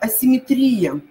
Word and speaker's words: асимметрия: ли произносят его неправильно итак асимметрия асимметрия это будет правильный вариант дальше идем созвонимся созвонимся